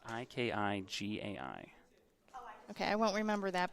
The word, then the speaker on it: ikigai: It's spelled Ikigai.